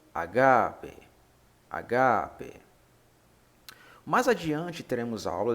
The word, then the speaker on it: agape: Mas, como estamos estudando o grego koiné, bem como a certificação gramatical que neles contém, há o acento agudo no A, então se pronuncia agape, agape.